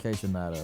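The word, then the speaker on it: Kaytranada: Houston, like, cause you mentioned K-Tronada, right? That's how you pronounce it.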